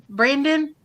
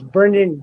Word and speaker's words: Brendan: what was it uh Brandon yes it is when you said it Brandon Frazier no it's Brendan oh there we go like Jack Brendan I don't